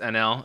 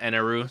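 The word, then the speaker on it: Enel: If anyone's watching this on YouTube, my chat let me know in between episodes that his name is actually pronounced NL and not Eneru.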